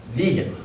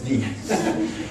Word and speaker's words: vegan: the the word so he created the word vegan and he wanted it pronounced that way that's why you can't say vegan or V people say because Donald said so she said it's vegan and he said veganism